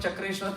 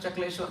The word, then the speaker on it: Chakleshwar: But in Braja, you know, with time, tradition, the pronunciation is all changed. So, Chakreshwar, Chakreshwar, Chakreshwar, Chakleshwar, Chakleshwar, Chakleshwar. So now it becomes Chakleshwar. What is Chakla? It is Chakra.